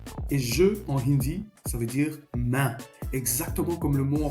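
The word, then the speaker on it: मैं: Donc bien main comme en français.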